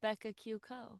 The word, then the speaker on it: Becca Q. Co: So the dot is silent.